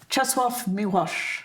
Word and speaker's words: Czesław Miłosz: I tried to imitate how his American wife said it, which was Czesław Miłosz.